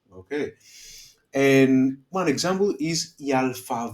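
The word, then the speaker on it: άλφα: of the alphabet okay it's alpha okay um and the sound that it makes is a okay then we have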